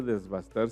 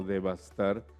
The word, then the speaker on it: devastar: Y no, en primer lugar no se dice desbastar, sino devastar cuando se arrasa con algo. La palabra devastar con V, eh, y no es desbastar, sino devastar, significa quitarlo vasto.